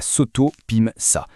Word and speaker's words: SOTOPIMSA: La SOTOPIMSA. C'est la Société togolaise de promotion immobilière. Retenez bien ce nom, c'est la pierre angulaire de toute la stratégie. La SOTOPIMSA, prononcée SOTOPIM-SA, est donc pensée pour être le bras armé de l'État.